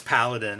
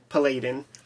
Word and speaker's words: Paladin: saber tooth cover but it's Paladin is uh or as I called him Palladin yeah I mispronounced his name for 20 years I might still